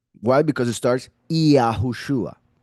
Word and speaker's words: Yahushua: It was the letter Yud, which is like a letter I, at least the pronunciation of the I in Spanish, for instance, which is E.